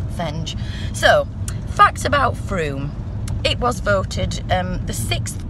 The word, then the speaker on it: Frome: were discovered just outside Froome you see there is a lot going on in through it also rhymes with room Damian says I think we'll leave it anyway see you in Froome by craft hour